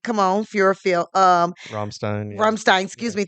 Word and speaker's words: Rammstein: Rammstein. Yeah. Rammstein, excuse Yeah. me, thank you, because Yeah, I yeah. always mispronounce their name.